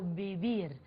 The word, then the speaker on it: vivir: Você deve estar estranhando a pronúncia do V. Em português, V. Em espanhol, o V tem o som de R, muito próximo ao B do português. Portanto, eu não falo vivir, eu falo vivir, ok?